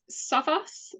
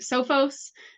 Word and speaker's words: Sophos: you talk to uh technically it is saos uh we are a UK based company and that is how our Founders Yan and Peter pronounced uh the name across the US it's typically pronounced sofos that's how most people know us I am a bit of a hybrid and I combine the two and I say Sophos I love it oh